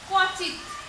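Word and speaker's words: ক্বচিৎ: যেমন কচিত, এটার উচ্চারণটা কেমন হয়? কচিত, কচিত। ত বা খণ্ডত একটা দিলেই হচ্ছে, খণ্ডত দিই, যেহেতু এখানে খণ্ডত দিয়েছি, কচিত। এই শব্দের প্রথমে যখন ব ফলা যুক্ত হয়েছে তখন এই বর্ণের উচ্চারণের উপর একটা যোগ পড়ছে, একটা ধাক্কা লাগছে, কচিত, কচিত।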